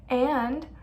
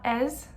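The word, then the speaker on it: -ez: For vous, it's ez, and it's pronounced a, not es, it's a.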